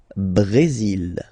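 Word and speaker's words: Brésil: it's only mexic okay Brazil brail okay you will pronounce the final L here and then remember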